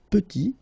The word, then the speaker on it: petit: Final T is not pronounced, and then when you add this E at the end, you get the sound T, petite.